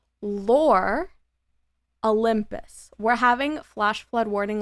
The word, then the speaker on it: Lore Olympus: Lore Olympics. Okay. Lore Olympics. Oh my god, I said it wrong again. Lore Olympus.